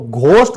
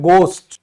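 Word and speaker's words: ghost: फिर भूत, तो आप इसको घोस्ट, घोस्ट करते हो ना, ये बिल्कुल गलत है। ये यहां पर हैच हमारा साइलेंट है, ये होता है गोस्ट।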